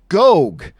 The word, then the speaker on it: Gogue: Gouge writes, Gogue rhymes with rogue.